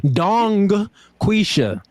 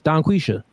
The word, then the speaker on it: Donquisha: Dong quisha. Yes. Do But if you say it fast, the G disappears. Donquisha.